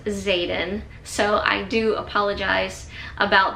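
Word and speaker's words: Xaden: of the video I'm calling him Xander his name is Zaden so I do apologize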